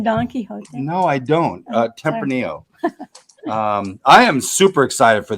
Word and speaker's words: Tempranillo: Tempranillo.